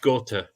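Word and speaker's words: Gåte: Norway, Gate or Gatti and Ulveham, again, sung in Norwegian. Yep. That's pronounced Gote.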